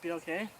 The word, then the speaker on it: BLK: So is it actually like pronounced BOK? Yeah. I always thought it was black for some reason.